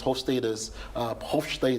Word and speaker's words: Hofstede: Okay, so in some of the theories we use, or one of the theories we use to explain culture, which is Hofstede's, that's actually the pronunciation, Hofstede.